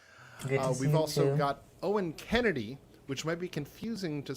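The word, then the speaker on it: Oen Kennedy: got Owen Kennedy, which might be confusing to some of our regular Passim watchers, because there's another Owen Kennedy who's a singer-songwriter, but it's spelled differently. It's O-E-N, so don't be confused.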